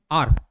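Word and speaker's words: hour: अब हवर को हवर हवर प्रोनाउंस करोगे तो फिर वहाँ पे ई लगाओगे, ठीक है। इसका एक्चुअल प्रोनाउंसिएशन क्या होता है, एन आर, आर होता है, ठीक है, क्लियर।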